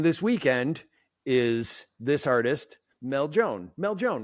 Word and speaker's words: Meljoann: it said, coming this weekend is this artist, Meljoann. Meljoann, right? I always want to say Meljoann when I see your name, but it's It is, yeah. Meljoann.